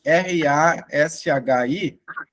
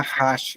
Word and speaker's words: Rashi: É que escreve R-A-S-H-I. Nós aqui no Brasil vamos tender a falar Rashi, né? Mas a pronúncia correta seria Rashi.